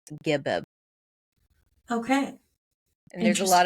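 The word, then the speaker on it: Geb: Okay, it says the English pronunciation of the Egyptian god GB is is most commonly gibb. So like a double B with a soft G sound or occasionally keb.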